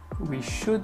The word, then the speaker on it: should: we should, on ne prononce pas le L, je reviens pas dessus, we should be out there solving a homicide and punishing those responsible.